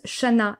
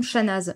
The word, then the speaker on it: Chanaz: Petit nota bene, comme toutes les villes du coin, cette ville se prononce Chana et non Chanaz.